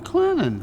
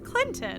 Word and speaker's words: Clinton: hey y'all hey to you marvin welcome to clennan clinton i thought it was clinton well there is a t in it but